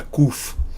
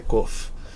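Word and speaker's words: קוף: a letra a letra Coffee em hebraico você usa popularmente a gente fala a letra cufo entendeu mas na verdade Originalmente a pronúncia certa é Coffee que a gente já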